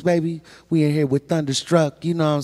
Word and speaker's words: Tdunda Struck: But anyways, it's Thunderstruck. TDUNDASTRUCK. Thunderstruck. Hold on. And Why Spell it one more time.